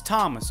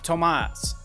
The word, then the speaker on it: Tomas: You have the main bad guy, which is Guillermo, and the other bad guy, which his name is Thomas, or he pronounces it Tomas.